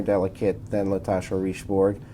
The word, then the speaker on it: Richebourg: So, first of all, you don't pronounce the G. It's Richebourg, not Richebourg.